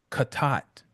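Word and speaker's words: חטא: If you all remember, remember I was mispronouncing it. Um, and the word is kat, right?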